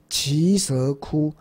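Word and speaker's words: 耆闍崛: 啊，也是根据梵文要念成奇蛇窟山。啊，这是一直强调这个蛇字的音，就是念成蛇。啊，不要念成都，因为你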